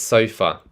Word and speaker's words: sofa: So it is sofa. Notice the sound, which is the schwa sound at the end of sofa.